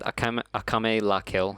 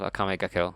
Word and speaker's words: Akame ga Kill: I think I said Akame la Kill instead of Akame ga Kill, so I'm just gonna correct that, so that anyone watching isn't like, he said the wrong thing again.